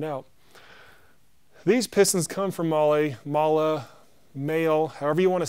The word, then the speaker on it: Mahle: I've heard so many people tell me the correct way to say it, and they're all different. So we're going to say Mahle.